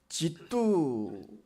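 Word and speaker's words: 基督: 기독이라고 한자를 쓰고 읽을 때는 지두 이렇게 읽습니다. 그러니까 지두하고 그리스도스하고는 아무런 관련이 없는 어 그런 단어입니다.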